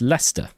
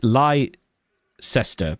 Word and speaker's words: Leicester: That's how you pronounce Leicester. Yeah, it's Lester. L E I C if you pronounce it li Cester but in English you say that's just cester